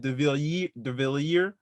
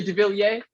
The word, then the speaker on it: de Villiers: De Villiers. It's I say de Villiers.